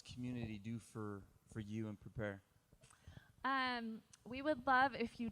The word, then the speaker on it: Prepear: So it's spelled Prepear like the fruit. P-E-A-R. Like a pair of pears, yes.